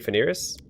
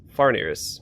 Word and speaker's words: Farnirras: invent it are you Phineas it it seems I hear notes of uncertainty in your voice brave adventurer am I wrong yes I am far nears so I've been saying it wrong as far near as